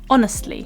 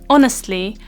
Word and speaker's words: honest: I really like pizza this word honest has this o sound at the very start of it along with a silent h each at the start honest and when you're creating the sound honest the lip shape is very round and quite small and so it's not